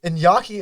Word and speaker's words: Iñaki: Iñaki? Iñaki, indeed. How do you spell that?